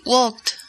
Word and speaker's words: walked: Así que, Cecilia, ¿cómo se pronuncia to walk en el tiempo pasado? In the past tense, you would say walked.